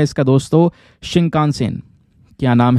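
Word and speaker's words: Shinkansen: आपसे क्वेश्चन बन है नाम है इसका दोस्तों शिंका सेन क्या नाम है शिंका सेन यह स्पेलिंग मैंने आपके सामने लिख दी है एस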